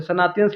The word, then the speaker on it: सनातन: उन्होंने अनदेखा इसलिए किया क्योंकि वो लोग सनातन जो लोग थे, सनातनियंस लिखा है ना, इसको ठीक से प्रोनाउंस करना, सनातन है।